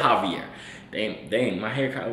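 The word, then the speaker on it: Jouvier: We don't pronounce our J's with H's. We're in America. Joovier. It's not that hard.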